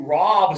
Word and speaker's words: rob: OKAY, TO ROB SOMEONE. That's really bad. That's a crime. Okay, for this one, it's like bought. It's the put up one finger. Touch right here.